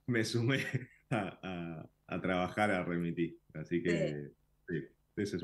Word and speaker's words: Remití: Entonces, por eso dijimos Remití con doble E, pero después nos dimos cuenta que cada uno le dice como quiera. Exacto. A unos nos dicen Remití, ponen el acento en otro lado, pero la verdad que